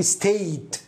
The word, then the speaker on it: stayed: فتصبح وي ستاي ستاي، وأخبرتك أن الاي دي ينطق إما تي وإما دي فتصبح هنا وي ستايد ستايد، لا تقول وي ستايد، لا ستايد، إما مثل التي أو الدي يعني وي ستايد we stayed مثل التي.